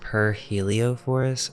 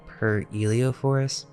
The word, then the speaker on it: Pyrheliophor: or wilhem guts also it may be pronounced per Helio forest or per Elio Forest because there are some